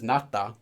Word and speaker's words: 낫다: So pronunciation of this is 낫다, but that's not really that important because it's always conjugated.